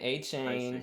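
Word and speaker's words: Achane: Penny's taking I A-Chain. see. Love it. We're pronouncing it right because we do our homework. A-Chain.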